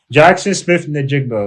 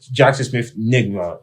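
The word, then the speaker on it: Jaxon Smith-Njigba: It's not even a hard last name to pronounce. Jackson Smith Najigba. Like, it's not a hard last name. It's really not. Yeah. I don't know. I don't know, because he was trying to be funny. Like, when he mispronounced it on first, he's like, Jackson Smith Nigma.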